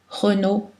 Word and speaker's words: Renaud: de voyelles AU, et en fin de mot, Renaud, Thibault. Deux L sont prononcées L, habituellement, culturel, L, pâle, mais ILL